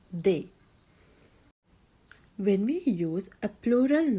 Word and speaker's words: des: we use the they it's d s but we pronounce it they when we use a